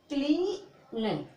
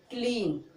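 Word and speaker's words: clean: Okay, सी है, तो इसको क्या पढ़ोगे, क्लीन। देखो ई बोलोगे, ए का कोई उच्चारण नहीं करोगे। ठीक है, तो क्या बोलोगे, क्लीन।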